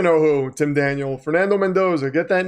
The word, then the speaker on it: Mendoza: You say it wrong. It's Mendoza.